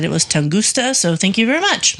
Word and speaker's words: Tunguska: So our last Origin of Weird was on the Tunguska event, which is pronounced Tunguska, and I said Tungusta. So there was a person in South Carolina who said it was Tunguska.